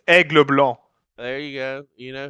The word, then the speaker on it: Aigle Blanc: Angel Blanc, I think is how the name's pronounced. You want me Zygon, to say it? yes, please. I do speak French. It's Aigle Blanc.